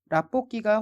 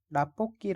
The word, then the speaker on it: 라볶이: 설명으로 틀린 것을 고르십시오 라볶이가 혹시 뭔지 아십니까 라볶이 라고 발음하지 않구요 일반적으로는 나뽀 끼 라고 발음을 합니다 저는 분식집에 가면 라볶이